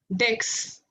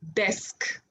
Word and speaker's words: desk: Dex. No, desk.